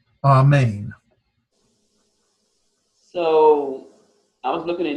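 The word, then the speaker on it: ἀμήν: Okay, so but it's pronounced as in amen.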